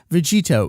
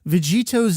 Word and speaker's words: Vegetto: When you combine Vegit and To from the two respective names, you get Vegetto. That's a hard double consonant sound at the end there.